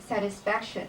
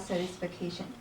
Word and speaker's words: satisfaction: page 35 there is a word satisfaction that is not satisfication overall I like the